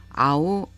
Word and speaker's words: 合う: 일본어 단어 동사 N4급의 아우, 아와세루 그리고 N1급의 아와스에 대한 설명을 하겠습니다. 한자 하파랍자라고 알고 있는 이 단어를 이용해서 일본인들이 동사를 아우, 아와세루, 아와스라고 발음을 하는데 각각의 동사에 대한 자세한 설명을 해드리겠습니다.